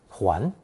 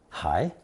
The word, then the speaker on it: 还: Today's second character has 2 pronunciations, 还 and 还, both of which are in common use.